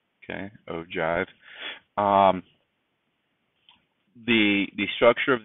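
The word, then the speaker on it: ogive: frequency sorry cumulative frequency polygon and this is pronounced o Jive okay o Jive um the the structure of these um your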